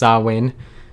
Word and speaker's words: Samhain: they related with halloween it looks like samhain but it's pronounced sawwin that i i don't